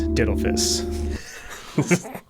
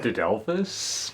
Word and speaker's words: uterus didelphys: This is the case with Uterus Didelphys. That's fun to say, right? That's not how you say it. How do you say it? Didelphys, maybe?